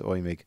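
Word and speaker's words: Eumig: Not Albert Cadis does not sound like a Besserwisser, but I think it's pronounced something like Euming. Yes. The German pronunciation is Euming. I just, you know, when I see EU, it's just automatic.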